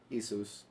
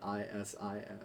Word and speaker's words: Issus: So he actually, at the Battle of Issus, but if we wanted to say it correctly, Issus. Issus. It's Okay. Issus, not Isis.